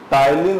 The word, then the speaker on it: ptyalin: लार में टाइलिन enzyme पाया जाता है।